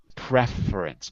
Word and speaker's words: preference: syllabus that's right but in the word preference it's a noun so we move it to the first syllable preference but in a verb to prefer second syllable okay and what do